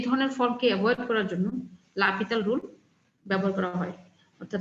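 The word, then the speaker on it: L'Hôpital: তারপর এসই ঠিক আছে অনেকের মনে হতে পারে হসপিটাল উচ্চারণ করা হয় লাপিতাল এখন রুল আমরা কখন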